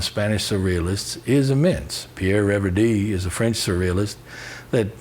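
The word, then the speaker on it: Reverdy: french and the spanish surrealists is immense pierre revere d is a french surrealist that most people don't know who that is but rev d which is spelled r-e-v-e-r-d-y is a magnificent poet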